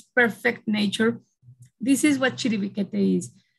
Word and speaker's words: Chiribiquete: So this one place called Chiribiquete, which if you open the chat, you will see how we pronounce it. Actually, we write it with a Q, we pronounce it with a K. Chiribiquete is an indigenous name